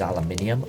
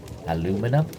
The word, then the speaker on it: aluminium: So this part here is aluminum or as Americans say aluminum.